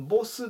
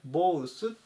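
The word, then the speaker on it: both: 215 番ボースボース発音に注意しましょうボスではなくてボウスという風に読みます両方とか 2人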